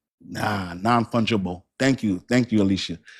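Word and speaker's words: non-fungible: Thank you for helping me pronounce that. That's uh sounds like nonfunable. Nah, nonfungeible.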